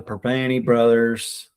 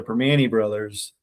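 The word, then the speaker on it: Primanti Brothers: to Pittsburgh, you got to go downtown to Perpany Brothers before the Steeler game. Okay, I gotta say it like that too. That's Pittsburghese, yeah. In translation, that means go to Permani Brothers downtown before the Steeler game.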